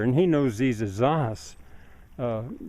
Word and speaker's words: zanja: I need to say zaha because he's a native Spanish speaker and he knows these as zahas. Uh the J is pronounced like we would pronounce an H.